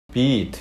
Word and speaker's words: beat: 이럴 땐 길게 발음하셔야 됩니다. beat는 beat 이렇게 하셔야지.